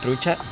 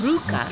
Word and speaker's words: trucha: Trucha. Trucha. Trucha. That's not yes. Truca. Okay. Trucha. Trucha. Trucha. Trucha. Because the CH is like ch.